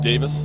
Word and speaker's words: Davis: Davis, which looks like Davies, but it's pronounced Davis, still ahead.